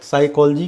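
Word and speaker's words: psychology: साइकोलॉजी है, साइकोलॉजी का P silent होता है।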